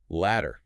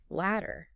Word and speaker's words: ladder: Ladder, on the other hand, utilizes the hard D sound where the tip of your tongue sharply taps the alvola ridge, which is the roof of your mouth right behind your top teeth.